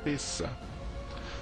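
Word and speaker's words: Pessach: existiu deoma latim então a pronúncia correta do nome Páscoa é p o nome correto é pessa a comemoração dessa Páscoa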